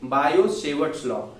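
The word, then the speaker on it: Biot–Savart law: लेकिन वहां पे टी साइलेंट होता है, तो हम लोग कहते हैं बायो-सेवर्ट्स लॉ।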